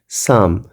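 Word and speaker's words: psalm: जैसे SALM साम, यानी भजन, तो ये L साइलेंट हो जाता है।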